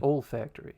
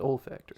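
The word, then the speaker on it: olfactory: All factory. Yeah. Their nose. It's pronounced all factory. They said old factory.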